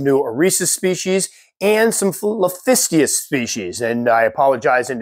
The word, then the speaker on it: Liphistius: Eresus species and some Liphistius species. And I apologize in advance as I was making this video. I was really, really tired, and I think I kept mispronouncing Liphistius as Lisphistius.